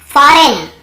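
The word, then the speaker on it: foreign: Campaign, campaign, campaign, यहाँ पर भी जी साइलेंट है, कैंपेन। फॉरेन, बहुत लोग फॉरेन ऐसे पढ़ते हैं, मतलब याद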